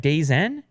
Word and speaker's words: DAZN: DAZN?